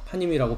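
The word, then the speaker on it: פנים: 파임이라고 발음을 하는데요.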